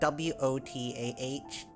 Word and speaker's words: water: They say like water, I think. They don't pronounce the R, and it's like kinda like WOTAH. But I say it quite literally, so I'll say water, shower. I'll pronounce the R at the end.